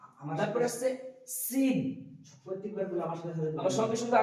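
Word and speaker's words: سين: তারপর আসছে সিন, প্রত্যেকবার বলে আমার সঙ্গে সঙ্গে আপনারা বলুন সিন, সিন, সিন। মুখের যে একটা সিটি সেটা বের হচ্ছে কিনা সেটা দেখুন, সিন, সিন।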